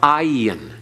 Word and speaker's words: ayin: Ayin, again, is often silent, but as mentioned before, sometimes it has almost a G sound, like in Sodom and Gomorrah. It's like your glottal, again, the glottal stop, but it's not as harsh as the cheth. It doesn't have the breath coming through it in an aspiration. It's just a constricting of the throat that's barely audible.